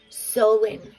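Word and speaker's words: Samhain: rooney's wife also s-a-m-h-a-i-n sounds like sew-in sewing or sewing sewing halloween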